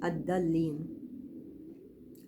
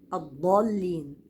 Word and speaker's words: الضالين: الواو واللام ما افخمهاش نطق الضاد من اخر الحافه وليس من الطرف لو نطقتها من الطرف هتطلع داله لو قلت ولد ولد ولد ولد بصوا ادى دا انا نطقتها من طرف اللسان ولا الضالين ودي الضل موجوده دلوقتي عندنا ناس كتير كتير كتير كتير بتتنطق من طرف اللسان الضالين الدالين لا الضالين الضالين من اقصى الحفل يختلف الصوت تماما لما صحح المخرج تمام